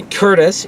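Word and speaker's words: Courtice: And then Sunday, I met up with Mark Wheeler this time, and we went just outside Oshawa, in the Curtis, even though it's spelled Cordis, flea market.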